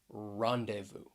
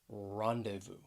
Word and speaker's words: rendezvous: going to look at the letter z a silent z which comes in the middle of this word right here rendezvous it has three syllables the stress is on that first syllable rendezvous and if people ever